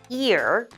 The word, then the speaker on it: ear: When we see the word ear, we kind of pronounce it like the word rear, like the rear view mirror. So ear is said with an E sound at the beginning. So your mouth will smile, ear.